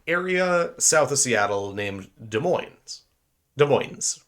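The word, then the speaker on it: Des Moines: if you're from Washington you say De Moines if you're from other parts of the countries you might say either dead like desm or uh De Moine uh there's weird ways to pronounce it right this cuqua gentleman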